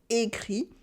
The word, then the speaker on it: écrit: The past participle for écrire is simply écrit, written with a silent T at the end, écrit.